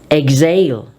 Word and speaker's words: exhale: of X is when X is followed by H H is silent it is dropped therefore we say exhaust exhaust exhale exhibit exhilarate exhume let's